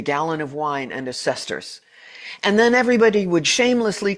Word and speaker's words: sesterce: And yeah, it is pronounced sesterce, a silver coin of ancient Rome.